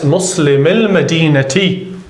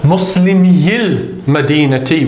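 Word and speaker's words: مسلمي المدينة: So you drop the sukoon and it's pronounced Muslimil Madinati. Right? It doesn't become Muslimiyil Madinati.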